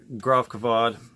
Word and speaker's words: Gravkväde: name for sure now the cool thing about Groff kavod that's how to pronounce it is that the the main guy